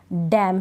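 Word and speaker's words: damn: नहीं करूंगी नहीं पढ़ूंगी अब यहां पर कॉलम है एन नहीं पढ़ा जा रहा सोलम है एन नहीं पढ़ा जा रहा डैम है इसमें भी एन नहीं पढ़ा जा रहा मतलब कि लास्ट में स्पेलिंग के लास्ट में एम एन होता है तो एन का उच्चारण नहीं होता आपको यह नियम भी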